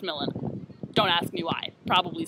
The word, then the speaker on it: Milan: the Duke of millen looks like Milan pronounced millen don't ask me why